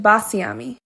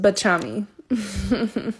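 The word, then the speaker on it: Baciami: whole time until now i thought my brand name was pronounced basiami it's actually pronounced bachami that's my life make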